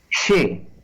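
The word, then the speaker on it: xe: La letra que en castellano se llama X, en galego se llama she. Y se escribe con la propia she, que es la X, repito, y una E.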